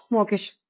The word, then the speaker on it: mawkish: Pronunciation क्या आ रहा है? मॉक इश। ओके, मॉकिश। इसको हम लोग क्या करेंगे, दो पार्ट में ब्रेक कर देंगे। मॉक और इश।